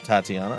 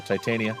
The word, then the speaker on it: Titania: that's where you went tatiana or see there we go titania i can't help it